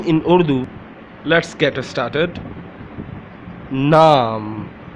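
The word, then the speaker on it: نام: Naam, how to say in Urdu? Naam, naam, naam. Okay, there are three alphabets in this word: noon, alif, meme.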